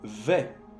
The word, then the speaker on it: vais: El primero, je vais. Je vais. Vais. El S no se pronuncia.